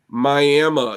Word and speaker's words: Miami: pictures of me um Mi it's spelled Miami but it's all indigenous in that area so it's called Mi and if you look